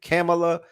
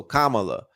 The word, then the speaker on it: Kamala: Is it Kamala? You know, they say K with like comma, or so Kamala.